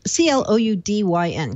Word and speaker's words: Cloudyn: Um This company, I think they pronounce their name Cloudyn, c l c l o u d y n, Cloudyn.